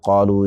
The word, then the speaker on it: قالوا: ہے، جاؤ، باؤ، فاؤ، یا قالو کہتے ہیں تو الف کا تلفظ ہوتا ہے؟ نہیں ہوتا، لکھا جاتا ہے، کتابت میں ثبت